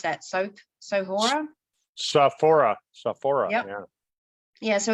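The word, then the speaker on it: Sophora: How would you pronounce that? Sohora? Saphora.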